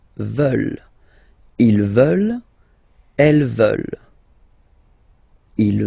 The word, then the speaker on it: veulent: And the last one, here, EU, and then E-N-T, classic ending, but then you don't pronounce it, so you get veulent, veulent.